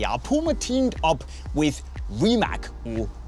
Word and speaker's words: Rimac: puma teamed up with re mac or remax as it's actually called if you pronounce it in croatian now that is a